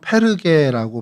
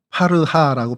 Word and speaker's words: 버가: 이 버가라는 곳은 이제 헬라어로는 페르게라고 발음을 합니다.